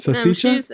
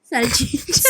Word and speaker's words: salchicha: salsicha. I'm sure she's already mad. What's it called? I said it wrong. Salchicha.